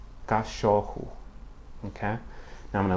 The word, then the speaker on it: cachorro: The letter double R, or the spelling sequence double R, only appears between vowels in the interior parts of words and has a similar pronunciation to the English H, okay?